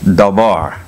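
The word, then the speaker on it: דבר: The Hebrew word spelled Dalet Bet Resh is pronounced Dabar, and the word perhaps properly to arrange, but used figuratively of words.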